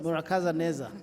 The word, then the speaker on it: Murakaza neza: Murakaza Neza, yes.